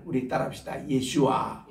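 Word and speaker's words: ישוע: 예수와, 예수와. 요 발음이 정확한 발음이에요.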